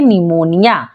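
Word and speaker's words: pneumonia: हो जाता है साइलेंट जैसे कि यहां पे है निमोनिया इसे निमोनिया क्यों पढ़ते हैं स्टार्ट तो पी से हो रहा है लेकिन पी एन से पहले आया है इसलिए पी हो जाएगा साइलेंट तो क्या पढ़ेंगे निमोनिया पी को यहां पर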